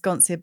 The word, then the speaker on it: Sconcia: Um, I it's pronounced Sconcha, my last name, but I also say sconcia because it's it's s c o n c i a. Yeah. Because the c and the i in Italian is a ch sound.